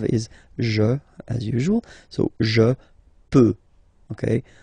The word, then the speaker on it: peux: So je peux, okay? Final X not pronounced here, okay? So you get X, but you don't pronounce it. So basically you get the sound peut, je peux, okay?